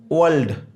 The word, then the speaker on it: world: नहीं, क्या बोला जाएगा, वर्ल्ड, वर्ल्ड, तो इसका जो है आर का उच्चारण नहीं होगा।